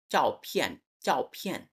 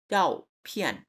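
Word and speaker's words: 照片: চাও ফিয়ান। ঠিক আছে, এটা ঝ হবে না, অনেকটা চ এর মতো। চাও ফিয়ান, ঠিক আছে, বলেন।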